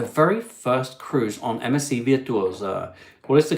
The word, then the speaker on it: Virtuosa: Keith has 250 days to go to their very first cruise on MSC Virtuosa. What is the correct way? It's Virtuosa because it's an Italian word.